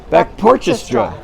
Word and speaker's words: Backporchestra: the back porch Orchestra all you have to say is back porch and then you go estra back porches straw it's a lot easier than